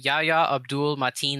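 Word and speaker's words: Yahya Abdul-Mateen: How did you pronounce his name? Yahya? His name is Yahya Abdul Mateen II.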